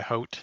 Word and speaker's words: haut: to point out I prefer the hote that the audiobook Yeah, it's narrator does.